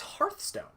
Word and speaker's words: Hearthstone: but hearth because it I'm almost positive it's not pronounced like Earth you know what I